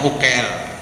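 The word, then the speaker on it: عقيل: tharqah sadiliah kemudian Syekh ukil tulisannya Ain qof ya lam uil Tapi bacanya ukel tuh kalau ada kesulitan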